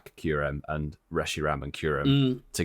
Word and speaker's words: Kyurem: Is it Kyurem, What? How do you say it? Kyurem. Rem or rum? Kyurem. Right. Kyurem.